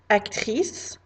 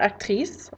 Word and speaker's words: actrice: I might say that someone is an actor or an actress, and that is pronounced acteur, actrice. So if you hear me say acteur, actrice, that's what I'm talking about.